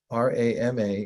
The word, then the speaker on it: Rama: but relaxed bring the syllables r-a-m-a into your mind pronounced Rama and try counting on